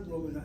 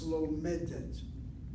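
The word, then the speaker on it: לומדת: And then it's not lomedat, it's lomedet.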